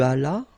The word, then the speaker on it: allas: J'allais, tu allas, remember final S is not pronounced, il alla, elle alla.